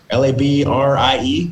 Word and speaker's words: Labrie: lebre la brea charcuterie l-a-b-r-i-e so if you're on instagram you can check that out so it's pronounced labrie like brie cheese charcuterie that's a family